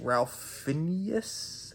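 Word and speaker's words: Ralph Fiennes: this movie focuses on a couple who visit an exclusive Resort Restaurant and their host the chef played by Ralph Phineas I think that's how you say his name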